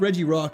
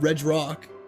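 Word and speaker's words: Regirock: Yeah, that's probably how that's how it should be said cuz it's Reggie Rock. It's not Reg Rock.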